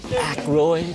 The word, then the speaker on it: Aykroyd: Dan how the fuck do you pronounce this? Aykroyd.